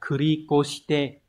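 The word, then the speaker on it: 繰り越して: Từ này đọc là kurikoshite.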